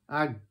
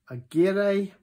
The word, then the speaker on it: Aguirre: And it reads Aguer Aranzabal. So that's the makers. But that's a terrible pronunciation. And if you want to be pedantic, it's actually, so the E is Spanish for and then the surnames are Aguirre and Aranzaral.